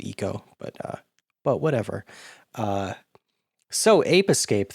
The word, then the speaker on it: Ico: And yeah, I know it's probably pronounced Eco, but whatever.